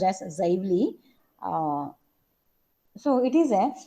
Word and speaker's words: Xively: Okay, it is pronounced as Xively.